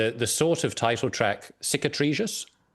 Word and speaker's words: Cicatrizes: Well, I mean, well, if we take, let's see if I can pronounce this correctly, the sort of title track, CICATRIZES. CICATRIZES, yeah.